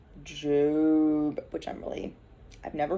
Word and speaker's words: Job: esther tomorrow we start job spelled like job but it's jube which i'm really i've